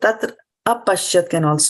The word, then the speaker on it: tatrāpaśyat: So tatrāpaśyat can be a way of pronouncing it.